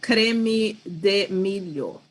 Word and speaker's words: creme de milho: How do you say it in your language, in Portuguese? We call creme de milho.